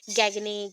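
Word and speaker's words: Gage: ठीक है, so according to गैग, तो गैज भी बोल सकते हो, बट एक्चुअली प्रोनाउंसिएशन गैगनी, गैग ऐसा ही आता है। सो प्रोनाउंसिएशन के अकॉर्डिंग गैग है।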